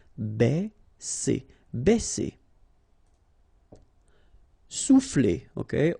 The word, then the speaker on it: baisser: Okay, because A and E together will produce the sound E. Baisser.